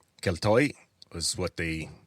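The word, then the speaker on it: Keltoi: And so the Greeks simply borrowed their spelling which borrowed their pronunciation and they used the Greek letter that looks like a K. Ketoy was what they called them.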